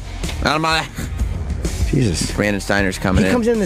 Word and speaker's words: Elmaleh: It's pronounced Elmaleh. Elmaleh.